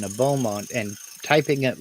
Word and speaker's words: Beaumont: know how to say beaumont just saying yeah it's got to be french because that's bo yeah but in french you wouldn't pronounce that t my my last my